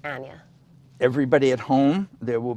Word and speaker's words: Anya: the language pretty quickly in america people find it very hard to say my name it's anya anya and yeah yeah i'd say like aneurysm i'm trying to find